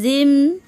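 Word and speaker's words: جيم: জ উচ্চারণ কেমন হবে? জ জিহ্বার আগা থেকে মোটাভাবে আদায় হবে, নইলে জিম জাল অথবা যা অক্ষর আদায় হয়ে পড়া হারাম হয়ে যাবে। খারাপ আঁকা চিহ্নের এই জায়গায়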